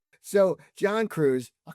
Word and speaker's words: Cruice: And your last name, so it's pronounced Cruz. Cruz. Yeah, like juice.